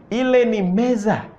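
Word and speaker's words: meza: say in that is the table will be Meesa Meesa those are tables Z Meesa m e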